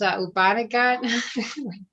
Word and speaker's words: Upanishad: How do you pronounce it? It's Upanishad.